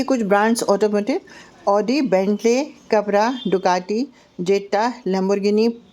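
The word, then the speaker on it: Audi: जैसे BMW की जगह BMW, पोर्शे, मर्सिडीज को मैक्सिडिस, ऑडी, आउडी।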